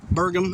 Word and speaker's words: Burgum: Burgum, I think it is how you say it.